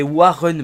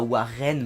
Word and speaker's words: Warren: l'ont dit on dit Warren pour les les pures allez les pures bretons car il me semble qu'il est breton bargil donc c'est Warren bargil et pas waren bargil donc voilà je vais